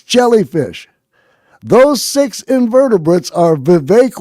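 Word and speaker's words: Vivek: those six invertebrates are VI rymes with cake ramaswami Uncle Tim Scott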